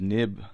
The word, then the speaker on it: XIB: So on the first one, you'll see it says nib name. And remember I said a .xib file? Actually, it's pronounced nib, N-I-B.